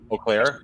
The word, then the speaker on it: Eau Claire: Eau Claire, EAU? That's the W. Oh. Wash. We need Jeff Riggles to pronounce that one for us.